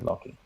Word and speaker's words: Locky: They've lovingly called their fans Locky, which is a combination of the words lock and key, and it's pronounced like the word lucky, so lucky, Locky.